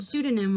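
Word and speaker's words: pseudonym: these two words here pneumonia the little end by pneumonia and sudonym with the s behind the behind the P we drop the P and just pronounce the N and the s there are lot of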